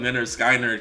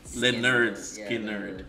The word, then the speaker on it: Lynyrd Skynyrd: You know, when I first heard, I used to call him Lynyrd Skynyrd because the name. I see. Yeah. But it's pronounced Lynyrd Skynyrd.